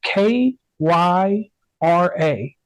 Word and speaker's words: Kyra: like an Auctioneer so spelling your name KY R A me pronouncing it I say Kyra and your last name